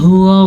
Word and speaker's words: هو: الا هو الرحمن الرحیم، ہوا ہا کے تلفظ کا دھیان رکھنا ہے، ہا چھاتی سے نکلتی ہے، اگر آپ اس کو صحیح تلفظ سے نہیں پڑھیں گے تو یہ لفظ غلط ہو جائے گا۔ هو الرحمن الرحیم، یہ